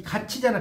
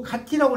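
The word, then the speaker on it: 같이: 그러니까 이 가치잖아, 가치. 원래 이거 가티라고 읽어야 하잖아, 맞죠? 원래는 이게 올라가도 근데 가티라고 읽어요, 가치라고 읽어요. 가치라고 있잖아. 이게 국외음화라니까. 국외음화는 이 디귿이나 티읕이 이 앞에 오면 지읒이나 치읒으로 바뀌어.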